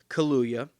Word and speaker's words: Kaluuya: the black panther party in chicago is daniel kaluya i had to make sure i pronounced that correctly daniel kaluuya who was the star of the film get